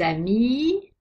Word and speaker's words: amis: Quand un mot est au pluriel, il a un S ou un X final. Ces deux lettres ne se prononcent pas. Des amis, des loups, des hiboux.